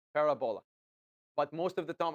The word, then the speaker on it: parabola: So the English way of pronouncing it is that you have to put the emphasis on the R. Parabola.